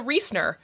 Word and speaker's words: Riesner: lovely voice notes saying, don't worry about the proper German pronunciation of my last name. If you can't do it, just say Lisa Riesner, like they say in the States.